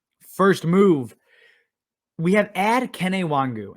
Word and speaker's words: Kene Nwangwu: move we have ad kenaiwangu and yes that is how you pronounce it i had to google it because i mean of course i did but kennywongu now that he is